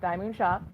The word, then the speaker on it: DIY Moon Shop: the wise owl from diamond shop as the title says DIY moon shop but they pronounce it diamond on their videos that was the that's